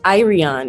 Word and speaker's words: Ireon: i'm not wrong yeah so it's irian is how you pronounce my yeah yeah for some reason i thought that something is silent in your name so maybe but but no actually it looks really complicated but it's it's super phonetic i think my mom